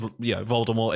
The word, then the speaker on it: Voldemort: Because, Voldemort is bold and it rhymes with bold, vold.